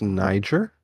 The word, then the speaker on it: Niger: Bro, everyone looked so quickly around at me, and it got real silent, and the teacher's like, it's pronounced Niger.